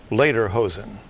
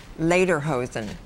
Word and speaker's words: lederhosen: or correct ok Eunice your word will be later hosen could you please repeat the word later hosen could you please use it in a sentence